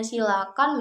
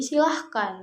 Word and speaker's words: silakan: Nah, silakan ini juga seringkali salah dalam pengucapan, terutama dari yang harusnya silakan menjadi silahkan gitu ya.